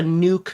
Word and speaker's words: nuke: Sorry, it's called a nuke, Mr. T and Crumpets, okay? It's called a nuke, all right? That's how you say it, just in case you were wondering.